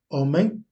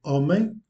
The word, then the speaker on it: homem: exemple le H dans homem. Lorsque l'on prononce le mot homem, homme, en portugais, le H ne se prononce pas.